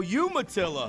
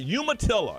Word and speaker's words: Umatilla: I pronounce it is how do you say it you're human human no Umatilla yes yes I'm sorry Umatilla and how long have